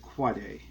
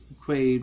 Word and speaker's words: Quade: I think I've been mispronouncing Quade's last name for years. Because I used to pronounce it Quade, but I think it actually should be pronounced Quade.